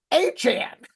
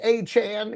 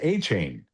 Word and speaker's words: Etienne: It's pronounced H and. It's got that Creole that Creole vibe. We've known H and. We we used to think it was A chain.